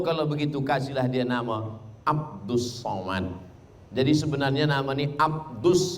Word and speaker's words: Abdul Somad: Tulisannya Abdul Somad, tapi membacanya adalah Abdus Somad.